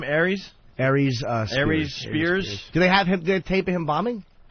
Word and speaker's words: Aries Spears: Aries Spears.